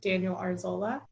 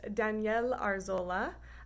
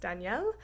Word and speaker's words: Daniel Arzola: name is actually pronounced daniel arzola um i am going to say his name a couple more times throughout this presentation i just wanted you to know that it is pronounced danielle so when you share